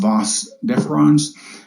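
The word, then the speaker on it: vas deferens: prostate glands gives me DeVos deferens which is pronounced boss deferens and the seminal vesicles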